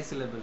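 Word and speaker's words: syllable: যেমন সিলেবেল, সিলেবেলের লাস্টে যে ইটা আছে সেটাকে তো আমরা উচ্চারণ করি না। আমরা তো বলি না সিলেবেলি, এরকম তো বলি না।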